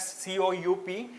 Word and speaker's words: coup: so since the military coup right so earlier what has happened a military was conducted okay it is written as c o u p but like you know p is silent so that's why we